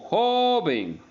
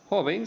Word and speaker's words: joven: y vocal se tilda no así otras palabras como joven joven sigue siendo grave tiene el acento en la penúltima sílaba en job pero no se tilda porque termina en n recuerden que para que se tienden tienen que determinar o no tienen que terminar en n s o vocal y